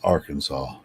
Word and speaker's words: Arkansas: I have to worry about theirs but you pronounce it Arkansas or Aransas no it's Arkansas that's the way I mean it's it's an